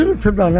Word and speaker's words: Rathdhana: English में आज भी रथदाना है। हाँ। आप उसकी स्पेलिंग उच्चारण करेंगे।